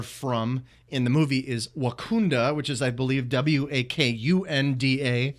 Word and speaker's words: Wakanda: And so Wakanda, pronounced Wakanda, Illinois, certainly fits the outwardly ordinary parts. It is not Wakanda, where Black Panther is from.